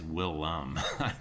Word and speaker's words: Willem: Is it William? I thought it was just William Dafoe. I think it's Willem. I'm pretty sure.